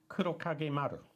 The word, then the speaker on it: Kurokage Maru: So we have some reference to these, because this is only really supposed to be pronunciation, not a full mythological breakdown another here. creature. Kurokage Maru.